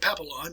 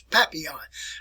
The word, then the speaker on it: Papillon: You probably pronounce it Papillon, but it's Papillon.